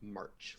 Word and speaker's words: Marche: And for posterity's sake, the name is pronounced Marche, like the month, because I had to be difficult.